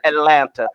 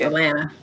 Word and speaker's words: Atlanta: In 1974, let me say Atlanta. I said Atlanta like a native. And as a native, we don't say that. We don't pronounce that last T. Okay, Atlanta. It's Atlanta.